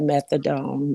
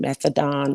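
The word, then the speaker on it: methadone: people were on that methodone methadon methodone depends on where you're from is how you say it and it is usually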